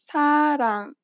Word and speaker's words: 사랑: This letter is often represented as an R or an L, but you do not pronounce it this way. In fact, there is no equivalent sound in English for it. Listen to a word that uses this letter. 사랑. 사랑. It sounds closer to an L than an R in English.